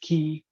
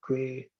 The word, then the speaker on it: Quay: in this registry right I don't know how people pronounce this uh in Australia it's prevents that key but in the U.S I've noticed maybe you can say Quay or whatever it is so that's a a